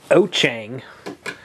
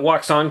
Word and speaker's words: Wouxun: walks on woan oang oang is the correct way to say it in Chinese the Chinese translation is oang like o- c h n g oang but I call it waon because that's what everybody else because that's how it's spelled some people call it